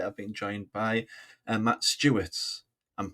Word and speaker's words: Stuertz: series and today I've been joined by Matt Stewart's I'm pronouncing that correct arrhyit of um human.